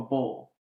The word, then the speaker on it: Boyle: south so I understand up here it's boil down there more of a bowl yeah for sure for